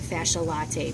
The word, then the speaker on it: fasciae latae: late ela ta be all right you can pronounce it fasciae latae because that's how most people remember this fascial